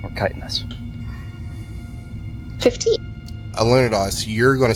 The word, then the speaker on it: chitin: And it's pronounced chitin, or chitinous.